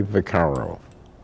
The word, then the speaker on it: Vaccaro: spell it watch out say your name and spell it for me vicaro v-a-c-c-a-r-o okay so do me one more favor